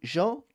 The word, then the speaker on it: gentil: O L não pronuncia, vai ser jantal, tá?